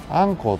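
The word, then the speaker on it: 鮟鱇: 、はい、こちらでアンコウと読みます。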